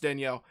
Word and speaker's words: Danielle: daniel hunter daniel hunter it's pronounced danielle um danielle hunter's out